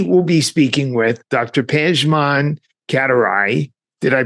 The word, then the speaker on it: Pejman Katiraei: Pan Katarai. Did I pronounce that correctly?